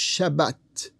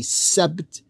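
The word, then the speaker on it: שבת: The Arabic seen, the Arabic Semitic seen, became a Hebrew Semitic sheen. And they don't say Sabbat, they say Shabbat, Shabbat.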